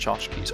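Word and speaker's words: tchotchke: To chachki. Yiddish lone word synonym to knickknacks pronounced chachkis.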